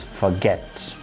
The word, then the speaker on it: forget: The next word is forget, which is a verb.